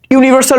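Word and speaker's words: universal: বলি ইট ইজ এ ইউনিভার্সাল truth ঠিক আছে আমি এবার এ বলে ফেলছি ইট ইজ এ ইউনিভার্সাল truth you এর উচ্চারণ ইউনিভার্সালের ইউ এর উচ্চারণ কিন্তু ইউ এর মতই আছে বুঝতে পারছো কিন্তু এর অল্টারনেটিভ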